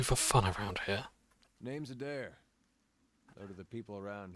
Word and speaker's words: Adair: I've always pronounced his name as like Adair, or Ida, but Adair.